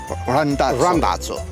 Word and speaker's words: Randazzo: Randazzo.